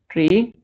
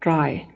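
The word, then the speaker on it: trie: I kept pronouncing it tree. I found out that it's not a tree. You call it try.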